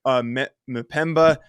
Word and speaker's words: Mpemba: Harris, edge Samuel Mpemba. Should have asked Ryan how to pronounce that one ahead of time. Linebacker Waylon Wilson. Mpemba, you did well. Mpemba.